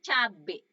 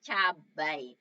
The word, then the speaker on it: cabai: biasa juga bilang sehari-hari itu cabe padahal sebenarnya punya cabai kita akan biasa bilang